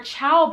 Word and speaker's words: Chao: Then we'll get into our Chao brand. I believe that's how you pronounce it. It's spelled C-H-A-O.